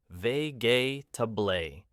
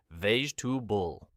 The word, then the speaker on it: vegetable: Natives almost delete entire syllables. Exactly. So a learner might say vegetable, but natives say vegetable.